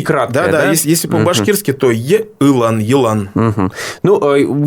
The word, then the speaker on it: Елан: Как правильно его произносить по-башкирски? Елан. Вот. Ну, там первое получается, вот если по звуку, по-русски, и краткое, да? Если по-башкирски, то Елан.